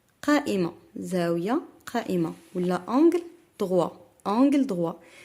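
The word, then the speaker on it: droit: تلامد بعض المرات تنطقوا دروا وتنطقوا هاد تي اللي عندكم هنا تي ميوت ما تتنطقش. هاد تي صامته وما عندهاش او. وانغل نو ماسكولين يعني انغل دروا ماشي انغل دروات.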